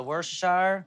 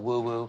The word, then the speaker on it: Worcestershire: ranch dressing chipotle peppers the worcestershire i like to call it woo-woo cause not everybody knows how to say it or spell it so that's your own way is woo-woo plate it up boom